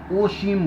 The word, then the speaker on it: असीम: जैसे असीम लिखना होगा ना हमें हिंदी में तो हम असीम पढ़ेंगे, लेकिन बांग्ला में उसको ओशीम बोलते हैं, ओ। अर्पिता लिखना होगा, वो लोग और पिता करके उच्चारण करते हैं।